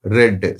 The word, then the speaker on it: read: read is equal to red spellings are same but you have to pronounce red prison spellings are saved